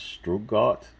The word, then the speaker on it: Stuttgart: Porsche was founded in 1931, and I think I forgot how to pronounce that. It's Stuttgart, Germany.